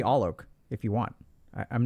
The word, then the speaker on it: Alok: people prefer that because my first name is sometimes hard to pronounce but you could call me all Oak if you want I'm